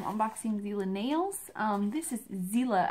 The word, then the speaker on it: Xela: This is Xela, it sounds like a Z, and I think that's how it's pronounced, but it's spelled X-E-L-A.